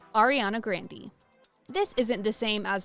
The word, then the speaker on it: Grande: In fact, it was Ariana's brother, Frankie, who thought that Grande sounded cooler than the actual pronunciation of their last name, Grande. And then my brother was like, we should say Grande, it's so fun to say it, it's funny, it's a funny name.